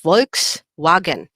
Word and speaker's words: Volkswagen: v and w so the v is pronounced like a letter f and the w there is pronounced like a letter v what example can i give for you for this one let's have the word volks how they say volks wagon okay i think that's